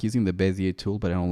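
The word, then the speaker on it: Bézier: Bezier. Is it a French word? I always pronounce it like it's French.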